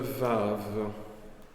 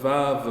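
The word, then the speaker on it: ו: ai mis à côté il se prononce comme un W anglais ou E et ça c'est à l'origine euh jusque là je prononçais aussi comme ça mais à force de faire de l'bre moderne j'arrive enfin j'arrive plus faire le je fais le Ve donc on vous pouvez soit prononcer soit le prononcer ve en hébreu moderne si vous faites on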